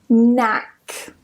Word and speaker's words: knack: So, just don't pronounce the K. Go straight to the N and pronounce it as N. And that's it. Let me give you some examples. Knack.